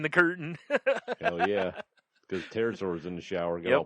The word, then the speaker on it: pterosaur: the way it's spelled because it's pt like pterodactyl but terror sore would be that'd be